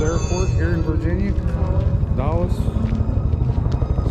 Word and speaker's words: Dulles: We are close to the, what is it, Dulles Airport here in Virginia. Dulles. That's how you pronounce it.